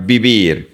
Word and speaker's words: vivir: The fourth verb is the verb vivir. Remember that the V in Spanish is pronounced like a B. We don't say V. It's B.